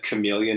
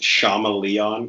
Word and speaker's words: chameleon: mother were tenth mostly thinks that chameleon is pronounced chama-lee-on because he's only he's only read the word so the one thing